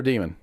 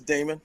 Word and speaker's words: Damon: Is it Damon or Demon? It's Damon. Damon?